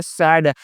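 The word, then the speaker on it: sad: यहाँ पे क्या है एस ए डी, क्या पढ़ना है इसका उच्चारण क्या करना है, सैड, ना कि इसे साद पढ़ना है दोस्तों, क्या इसका उच्चारण करना है, सैड पढ़ना है ना दोस्तों, क्या इसे पढ़ना है, सैड।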